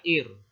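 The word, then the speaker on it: עיר: Huruf pertama ayin. Ayin itu silent letter juga. Ini pembacanya bergantung pada vokalnya. Nah, vokalnya I. Kemudian ada huruf res. Res itu R ya. Jadi dibaca ir.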